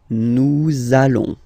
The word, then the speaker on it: nous allons: between the words, so it does mean that you will have to pronounce this z sound, okay? Listen to me. Nous allons. Nous allons.